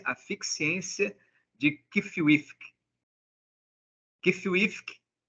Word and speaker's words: Qfwfq: cência de kif kfk na verdade a gente pronuncia assim Mas a intenção do autor era a de que o o o nome do personagem do protagonista fosse realmente impronunciado ou e melhor melhor dizendo impronunciável porque o nome dele